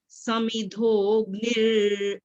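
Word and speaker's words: समिद्धोऽग्निर्: यथई धांसी समिधोग्निर, यहाँ गलती होगी, यही देखना, समिधोग, ओ के बाद ग की आवाज आनी है। समिधोग निर, न को छोटी आवाज है।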